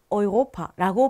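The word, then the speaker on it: Europa: 그래서 유럽이라는 단어도요. 유럽 이렇게 발음하지 않고요. 오이로파라고 발음을 합니다.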